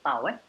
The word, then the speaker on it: tau: Shear stress is known as is pronounced as tau.